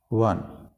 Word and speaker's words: won: won नहीं बोलते इसको, won, बिल्कुल जैसे ये स्पेलिंग होते हैं ONE, वन।